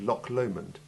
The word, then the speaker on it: Loch Lomond: It's a guttural sound made from the very back of your gullet, as though you're trying to clear your throat.